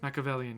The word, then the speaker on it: Machiavellian: Machiavellian? Is that how it's said? Machiavellian, yes.